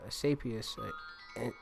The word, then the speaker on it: Asclepius: And it says Asclepius incidentally was so successful at saving lives that